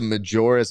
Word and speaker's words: Majora: are watching bji gami says shout out to Majora's Mask back there or mayor's mask back there